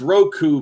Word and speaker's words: Roku: Ruku or the r it's Roku but he calls it something else yeah because he can't